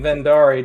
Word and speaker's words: Verndari: like that right okay it derives from an Icelandic word so basically however you say it is correct well I'll probably stick to saying vendari just because that's what